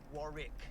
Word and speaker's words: Warwick: Not the first W, the middle one.